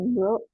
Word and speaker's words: brought: Verb one-nya bring, verb two-nya brought, verb three-nya brought, artinya membawa. Ya, aku koreksi sedikit ya. Cara membacanya broad. Jadi GH-nya nggak dibaca.